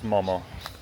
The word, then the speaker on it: momo: lot of the menus they will actually say momos with the s on the end. And I've come to learn that that is not not the right way to say it. It is momo, no s. You're having one momo, two momo, 10 momo, two serves of momo. Doesn't matter. It's momo.